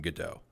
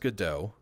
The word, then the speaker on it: Godot: had on the show who are working in godot um and it's it's pronounced godot not good dot not go dot it's good uh i just